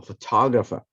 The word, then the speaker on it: photograph: photograph i am a photographer stress is different photograph photographer but i was saying